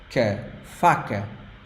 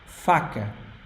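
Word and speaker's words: faca: just like in Kaza the first a is strong open ah and the last one is soft F fak fak you think it's masculine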